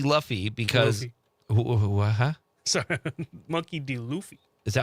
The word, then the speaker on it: Monkey D. Luffy: Sorry, Monkey D. Luffy. Is that how you say it? Yeah.